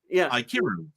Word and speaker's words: Ikiru: So you in other words, you pronounce the I and then it's Kiru. Kiru. Kiru. Yeah. Aikiru.